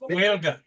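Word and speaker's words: Gaeilge: It's pronounced Whalga.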